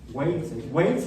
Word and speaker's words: Wales: desde Galicia hasta Gales, solo que en inglés Gales no se pronuncia así. ¿Cómo suena? Hablando de símbolos fonéticos, estamos hablando de símbolos, con un ejemplo geográfico humano, de geografía humana. ¿Sí? Wales es Gales, en la isla actualmente.